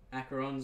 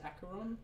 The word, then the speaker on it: Acheron: The way you say it, mate, is the traditional Greek pronunciation. Okay, yes. I am Greek. Part Greek. I am... It can be said either way.